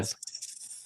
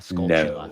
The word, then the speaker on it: Skulltula: It's not Plus, a you gotta Skolta.